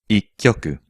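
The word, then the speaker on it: 一局: From 1 to 4, the numbers are pronounced ikkyoku, nikyoku, sankyoku, yonkyoku. So the very first hand of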